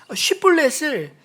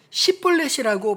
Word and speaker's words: 쉽볼렛: 그런데 에브라임 사람들이 발음하지 못하는 쉽 때문에 쉽볼렛을 십볼렛이라고 발음해 에브라임 사람인 것을 들키고 요단 나루턱에서만 42,000명의 에브라임 사람들이 죽임을 당했다고 오늘 성경 기록하고 있습니다.